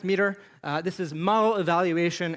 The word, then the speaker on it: METR: Uh time horizon methodology was created by an organization called meter pronounced meter.